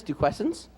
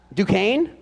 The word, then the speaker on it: Duquesne: wants to go how do you say this do questions duquesne i had no idea university oh he even put pronounced duquesne i didn't see that for major